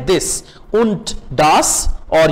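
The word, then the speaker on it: und: wagon आइन डचर wagon उंट दास और ये उंट डी आखिर पे जब आएगा तो टी प्रोनाउंस होगा और अदर वाइज डी ही प्रोनाउंस होगा उंट डास और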